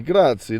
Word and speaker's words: grazie: Grazie, grazie.